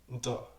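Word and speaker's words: نتا: Donc ça sonne comme Nti ou Nta. Comme pas de alif.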